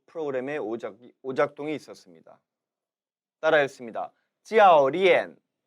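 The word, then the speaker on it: 教练: 教练教练 기억하십니까? 이 가르칠 교자는 教 일성으로도 그리고 지금처럼 教 사성으로도 발음되는 포인즈, 뚜어인즈였죠. 즉 한 글자에 2개 이상의 발음 성조 의미를 지니는 단어라고 했습니다.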